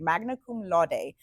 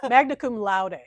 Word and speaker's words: magna cum laude: In the year 2008, she graduated magna cum laude. I did not pronounce that right. No, magna cum laude.